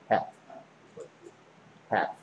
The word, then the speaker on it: half: L이 발음이 안 나, half, half.